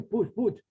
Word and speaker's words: Puig: Se escribe Puig, pero se pronuncia Puig, como una serie de apellidos catalano-valencianos. Puig, Ros, Blanc.